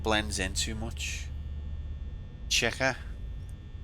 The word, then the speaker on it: Chica: Chica. How am I supposed to say it? Am I saying it wrong? Like the way you say chocobo. Walk, I feel like you're making fun of me. Chica.